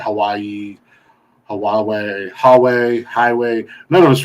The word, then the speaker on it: Huawei: can none of us really know how it's pronounced we said hawaii huawei hallway highway none of us really know how